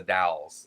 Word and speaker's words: Dalles: just for kirk's sake it's the dalles oregon dal sorry sorry sorry yes